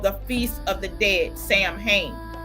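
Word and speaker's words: Samhain: Sam Hayne, pronounced Sawing and was on November the 1st.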